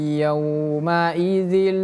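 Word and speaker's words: يَوْمَئِذٍ: Ingat-ingat saja dengan dzal ya. Huruf zal berbeda dengan huruf zai. Za zi zu dengan za zizu berbeda.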